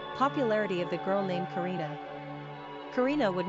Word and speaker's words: Carina: Popularity of the girl named Carina.